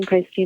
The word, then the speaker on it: Paiste: going to start with here's the voicemail of what pisty USA says uh when you call them hi thank you for calling pisty America we are currently closed please leave a message and somebody will get back to you in the next business day thank you pisty America so I think that's pretty